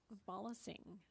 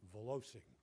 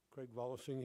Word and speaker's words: Volosing: My San Francisco relatives pronounce it Volosing. Oh. My grandfather changed it to Volosing. There's a few more. So, good afternoon, commissioners. Craig Volosing here, and my address